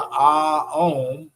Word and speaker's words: om: You can do the ah om. Okay, remember om is really three syllables. It's ah om, and then we close our lips, so it's a Okay, so that's why it's an internal vibration with that.